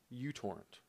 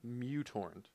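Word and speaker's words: µTorrent: torrent client will do I choose UT torrent I believe it's actually pronounced mutorent but you go to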